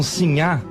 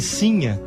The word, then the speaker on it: Sinhá: é e ela seria e Cinha com o assento na primeira sílaba é a mulher eh pobre a mulher do po do Povo né então esta é simha Vitória o que já